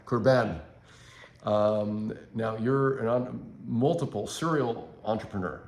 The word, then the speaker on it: Kurban: Kurban. Kurban.